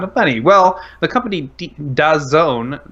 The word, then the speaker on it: DAZN: Well, the company DAZN, that's D-A-Z-N, and that is pronounced DAZN, wants to interrupt and